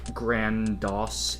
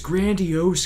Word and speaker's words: grandiose: don't know grandiose yeah i made that mistake of pronouncing that grand dos in the game of the year videos a day for 2013. oh and and they my staff wouldn't stop harping on me about that it's grandiose kyle people are going to